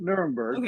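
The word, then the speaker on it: Nuremberg: Nermberg.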